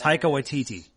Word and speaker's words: Taika Waititi: So Tiki, whatever his name is. Taika Waititi.